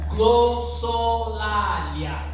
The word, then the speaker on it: Glossolalia: Glossolalia.